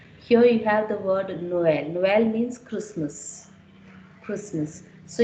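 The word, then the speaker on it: Noël: Means you have to read the pronounce O and as well pronounce E. So how do I pronounce it? No, O L, Noel. I read the sound, the pronunciation is clearly distinguished here.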